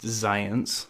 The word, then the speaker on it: Xyience: It actually says on the back, it's pronounced Science. It's spelled Xyience.